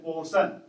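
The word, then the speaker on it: portion: भी होता है कि यदि वोवेल के बाद आर आता है तो आर को हम लोग साइलेंट कर देते हैं, इसको हम लोग पढ़ते हैं पोर्शन, पोर्शन मीन्स भाग।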